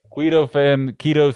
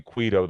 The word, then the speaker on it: keto: Keto fan. I've been calling you Quito the whole time, and you haven't corrected me once. I know it's pronounced keto.